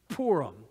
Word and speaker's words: Purim: feast the feast of Purim it's you pronounce that like P double O our poor poram the feast of Purim